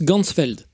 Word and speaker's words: Ganzfeld: de la vision et en allemand champ entier ça se prononce gansfeld ainsi il va créer